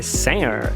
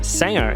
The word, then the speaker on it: singer: Cantor é singer, singer, e a gente quer falar com G, singer, singer. Coisa é thing, thing, a gente quer falar thing, quer falar o G, então não é pra pronunciar o G.